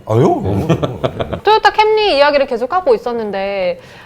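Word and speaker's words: Camry: 근데 일본에서 왕관의 그 발음이 아마 캐무리. 캐무리. 캐무리가 일본 그 왕들이 쓰는 그거를 캐무리라고 하는데 그거를 그대로 영어 발음으로 옮긴.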